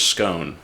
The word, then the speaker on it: scone: And it rhymes with stone, so I think that really helps seal the deal. The philosopher's scone.